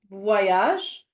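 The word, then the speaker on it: voyage: P which means country in in in French vage which means trip or travel most likely travel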